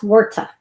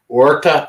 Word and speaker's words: Huerta: Her name is it's pronounced Huerta. Huerta, okay.